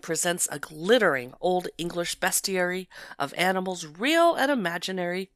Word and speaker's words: bestiary: It's an Old English bestiary, which can also be pronounced bestiary. Either way, I like to say bestiary because it has the word best.